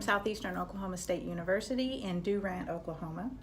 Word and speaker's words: Durant: Oklahoma State University and Durant Oklahoma and it's pronounced like that do ramp then I went to